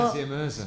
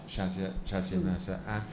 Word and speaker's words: Shazia Mirza: Now I didn't know how to pronounce his name, but you're Shazia Mirza.